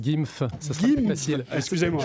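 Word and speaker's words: GIMV: euh la société d'investissement g i m V qu'on prononce gyf ça sera plus facile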